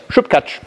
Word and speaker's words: Śupkáč: Śupkáč.